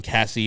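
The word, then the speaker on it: Caissie: And I've seen only things about Owen Cassey.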